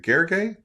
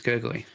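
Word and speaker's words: Gergely: I believe it's Gurgley. Gurgley. Okay. All right. I'll I'll we'll go with that. uh or we could just call him the pragmatic engineer.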